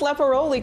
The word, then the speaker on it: Lepporoli: And you pronounced Lepporoli correctly.